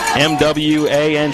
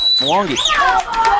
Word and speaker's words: Mwangi: It's Mwangi, and it's pronounced just the way it's spelled, Mwangi.